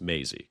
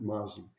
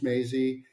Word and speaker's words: Mazzei: It's actually pronounced Maisie, correct? That's correct. Yeah, that's correct. In fact, before I joined the company, I called it Maisie. But the name is Maisie.